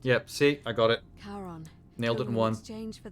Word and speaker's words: Charon: c h a r o n as in Caron the ferryman of the Dead yep see I got it karon nailed it once exchange for the right coin